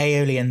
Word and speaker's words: aeolian: Alien tones? Olean tones? Oh yeah, aeolian tones. Yeah, aeolian tones.